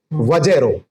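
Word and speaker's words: VAZRO: वजेरो वजेरो की स्पेलिंग है वी ए जेड आर ओ वजेरो वजेरो अगर हम वजेरो वजेरो बोलते हैं तो भी बहुत जल्दी हो जाएगा।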